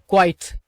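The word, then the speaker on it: quiet: இப்ப கவனிங்க கயூஐடி கயட் கயட் இதுக்கு அர்த்தம் என்னன்னு கேட்டீங்கன்னா மிகவும் அப்படின்னு அர்த்தம் எடுத்துக்கலாம். முழுமையான அப்படின்னு அர்த்தம் எடுத்துக்கலாம். இல்லன்னா ஓரளவு கொஞ்சம் அப்படின்னு அர்த்தம் எடுத்துக்கலாம். கயூஐ இடி இத வந்து குயட் அப்படின்னுதான் உச்சரிக்கணும் என்ன அர்த்தம்னு கேட்டீங்கன்னா அமைதியான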